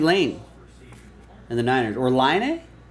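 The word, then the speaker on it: Laine: That's gonna go to, it's gonna go to Matthew Lane and the Niners, or Line A? Which is how Patrick Line pronounces his name, I believe, if I'm not mistaken, the hockey player.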